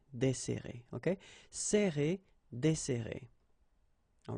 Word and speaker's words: desserrer: So we've got this double S, so it will open the sound of the here. That's the reason why I pronounce it like E. Desserrer, desserrer, okay?